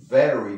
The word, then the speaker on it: very: Was he driving very, very, la V importante, not very. Berry es fruto del bosque, a berry, pero queremos decir very, entonces muy, very fast.